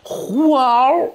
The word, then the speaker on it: 服务: 嘴，哎，把那个服务的物字那个 W 给去掉，哎，读音就变成了呼嗷，哎，就这么来的，为人民